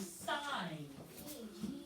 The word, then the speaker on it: sign: And what is the silent letter in sign? The G. Sign.